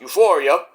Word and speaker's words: Euforia: Euforia, which is pronounced Euphoria.